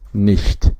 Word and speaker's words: nicht: The equivalent in German is nicht. Now you hear a different pronunciation from ch here, which is che. it is not exactly sh in English, but this is she, like someone who has a lisp, or instead of saying,